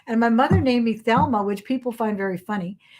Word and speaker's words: Thelma: my mother named me thelma which people find very funny because they when you say it in spanish you don't pronounce the h it's just because the h is silent but she always liked